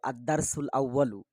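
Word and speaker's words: الدرس الأول: আদ্দারসুল আউয়াল প্রথম পাঠ এটা বারবার বারবার জোরে জোরে বলবে আদ্দারসুল আউয়ালু প্রথম পাঠ প্রথম পাঠ বারবার মুখস্ত করবে উচ্চারণটা হলো আদারসুল আউয়ালু এরপর দেখো নিচে আছে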